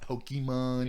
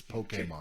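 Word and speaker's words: Pokémon: I have the accent over the E. Yeah, so you can say it correctly, so it's not Pokemon. Yeah, you Pokemans. It's Pokemon.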